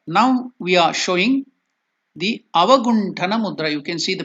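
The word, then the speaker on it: अवगुण्ठन: So that T, Avaguntana, there T, it will be pronounced as Ta, not Ta.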